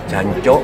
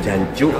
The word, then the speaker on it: jancuk: Di beberapa daerah pengucapannya ada yang dambut, ada yang jancok pakai o, ada yang jancuk pakai uka.